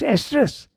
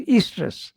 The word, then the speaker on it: estrus: one they I think word yes estrus it's pronounced estrus I thought it runs Easter okay so you see uh it has many